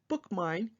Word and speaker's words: BookMyne: It's called BookMine, and it's spelled a little differently. It's BookMyne, and that will give you